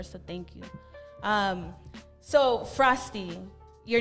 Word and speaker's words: Frosty: or whatever grade school they would always mispronounce it like frosttoe but you know frosty frosty is easier then go ahead and